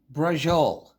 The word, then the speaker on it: Braciole: It's pronounced Brah-zhul, and it is a thin rolled steak with a stuffing in the middle, tied up and thrown in the gravy.